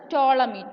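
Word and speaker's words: Ptolemy: the astronomers that is ടോളമി is silent so we can pronounce it as ടോളമി ടോളമി ഈസ് an Egyptian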